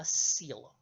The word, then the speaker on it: coelom: what is called a coelom now the spelling of that word does not sound like what I just pronounced coelom is spelled c--